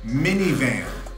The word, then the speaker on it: MNVN: We pronounce this minivan. MNVN. I believe that's right.